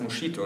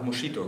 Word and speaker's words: Moschitto: heiß nicht Moskito das heißt moschito und dann hat mein Vater einfach moschito gesagt heute komme ich kaum mehr damit durch wenn ich moschito sage weil jeder weiß dass es ja mitalchen wie SS ausgesprochen wde oder SQ also schon mal allein das